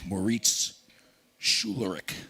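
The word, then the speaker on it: Moritz Schularick: We have the president of the Kiel Institute for World Economy, Moritz Schulerich.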